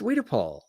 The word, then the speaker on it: Wiedepol: It's not Wojciechowicz. It's Wiedepol. Absolutely.